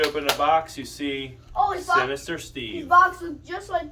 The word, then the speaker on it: Sinister Steve: C's from Home Depot I know I said his name wrong I said sister Steve wait what okay are you excited daddy yes we got Sinister Steve here brand new clown